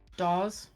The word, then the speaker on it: Dawes: And in the last 10 years, bands that have become great favourites of mine: Delta's Spirit, Group Love, Dawes, Doors, not Doors.